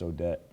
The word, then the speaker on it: Odette: also already had um i'm going to say it wrong odette i think it was pronounced odette anyway we skipped the